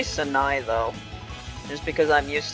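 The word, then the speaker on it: Sanae: sure I called her Sine for a while. Because in English, that's how you pronounce words that are spelled like that. Like A-E makes an A sound, not an I sound.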